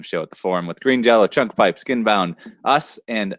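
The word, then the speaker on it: Green Jellÿ: But it's pronounced Green Jello still. It's only spelled differently.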